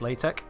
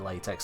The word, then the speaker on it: LaTeX: used to generate PDF actually pronounced latch no it's definitely an X there that's definitely an X if they want to pronounce slatch they put a k or maybe a c at a push but no that's that's definitely an X so I'm I'm calling it latex still and if that offends